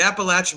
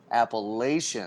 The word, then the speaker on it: Appalachian: Appalachian. Well, for those of us that live here and know how to pronounce it, it is the Appalachian Mountains.